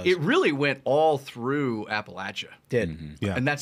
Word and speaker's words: Appalachia: it was huge it really went all through Appalachia did and that's how you say it by